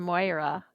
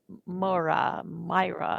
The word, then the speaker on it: Moira: My favorite quote from Moira, I'm saying her name wrong. She said it more like Myra.